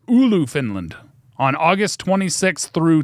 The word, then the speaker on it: Oulu: Oulu, how do you pronounce that?